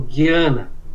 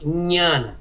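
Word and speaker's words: jñāna: Então, nós costumamos falar, os devotos de Krishna falam Guiana, Guiana. Então, essa é a pronúncia do sânscrito bem. Agora você vai encontrar no sul da Índia, ou mesmo no lugar da Índia, fala Nhana. É, fala, quando fosse, se dá ênfase no N, Nhana.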